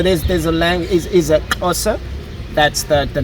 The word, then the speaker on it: Xhosa: So in English, you'd say Xhosa, I suppose. Yeah, yes. Xhosa. But the real pronunciation of it's the X. It's a click at the back of your tongue where you say Xhosa. Xhosa.